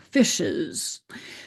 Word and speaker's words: fishes: And notice that we pronounce the e in the word fishes as a schwa, fishes.